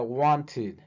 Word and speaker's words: wanted: Otro verbo que termina con T sería want, de querer. Entonces sería wanted, wanted.